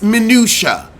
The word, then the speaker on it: minutia: were you educated Mya it's minutia minutia why do you have to mispronounce everything you thick tonged freak